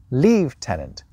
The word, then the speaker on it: lieutenant: One of the most popular theories for why that F sound sneaked in there is that back in the Middle English period, the letters U and V were written exactly the same. So perhaps people saw lieutenant and read it as leave-tenant.